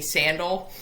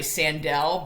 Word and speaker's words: Sandel: my teammates call me sandal my last name was actually sandell but everyone pronounced it wrong so that's just that's